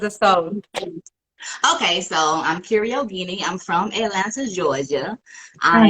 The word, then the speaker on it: Kiera Yogini: Kiera Yogini, yes. Okay, okay, good, good, good. I've been rehearsing, girl. All right. Okay. Tell us a bit about yourself as a soul. Okay, so I'm Kiera Yogini.